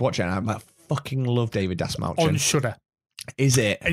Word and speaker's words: David Dasmalchian: David Dasmalchian. Yes, that one. No, but I really want to watch it. I fucking love David Dasmalchian.